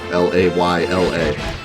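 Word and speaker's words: Leila: game boy better i've been pronouncing layla like the normal name l-a-y or l-a-l-y-a no l-a-y-l-a layla because in normal english l-e-i would be lay but it's a name so it could be anything it could be lila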